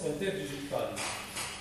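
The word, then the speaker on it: interdigitale: C'est écrit interdigital, mais ça se prononce interdigitalé.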